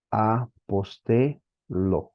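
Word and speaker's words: ἀποστέλλω: unas cuantas palabritas apostel apostel lo no se pronuncia como en nuestro español la doble l es una sola l se debe pronunciar una sola l apostel Ok enviar mandar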